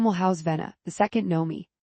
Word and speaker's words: Nomi: The second Nomi, he pronounces her name entirely wrong. Nummy, third, Stark, and the last two will belong to Queen Mer and Stermrost and Princess Sailor, respectively.